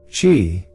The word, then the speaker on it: qi: Qi, pronounced qi, means life force energy.